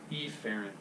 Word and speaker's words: efferent: arterial classic biology right two words it sound pretty much the same way if you're not careful with your pronunciation so a ferrant arterial efferent arterial okay so the 8th carrying